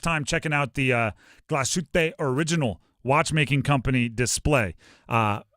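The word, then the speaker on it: Glashütte: checking out the uh glut original watchmaking company display uh which I I I feel like I have to say it like that because it's so elegant uh but it's spelled like glass shot uh it is uh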